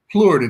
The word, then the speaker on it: Plourd: here is is Plurid. Is that how is that how you pronounce your last name? Plurid. It's French.